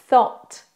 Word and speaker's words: thought: vraiment et vous avez thought s s donc le TH le O et le t et une fois vous